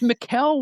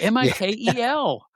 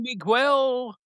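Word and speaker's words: Mikel: It was Mikuel with a K. Mi Kel. Baron Miguel.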